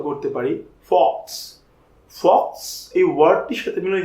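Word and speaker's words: faux: তাহলে আমরা মনে রাখতে পারি ফক্সের উচ্চারণের সাথে আমরা ফলস এই উচ্চারণটি মিলাবো, এবং এখান থেকে আমরা বলতে পারি যে ফক্স শব্দের অর্থ হচ্ছে মিথ্যা বা ভুয়া।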